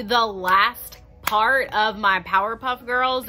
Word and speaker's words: Powerpuff: If you guys are ready to get into the last part of my Powerpuff Girls, and yes, I was saying Powderpuff this whole time. I didn't realize I was saying it wrong, but honestly, it could